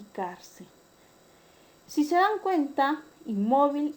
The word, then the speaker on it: cárcel: Cuando es una palabra grave o paroxítona, cuando la mayor fuerza de voz recae en la penúltima sílaba. Tenemos el caso de inmóvil y cárcel.